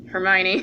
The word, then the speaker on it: Hermione: Hermione. Hermione. I can never pronounce her name.